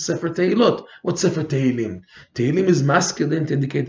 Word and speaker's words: Tehillim: Because you see, Rabbeinu took five psukim from Tehillim to prove that the 10 types of song can subdue the Pgam Abrit, and five psukim from Iyov and Mishle.